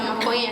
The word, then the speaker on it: maconha: essa maconha, essas drogas são diferentes hoje. How do you say marijuana? You said maconha? Macarrão? Marijuana in Portuguese. Maconha.